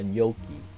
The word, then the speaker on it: gnocchi: So far, Wiktionary does not mention anything about pronouncing it like a gnocchi. The closest to his pronunciation is General American gnocchi. The term is derived from Italian, which is pronounced gnocchi.